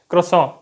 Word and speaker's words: croissant: इसको कहते हैं फ्रेंच क्रोसों स्पेलिंग है इसकी सी आर ओ आई एस एस ए एन टी क्रोइस Saint pronunciation बिल्कुल अलग है स्पेलिंग से अगर आपने कभी क्रोसों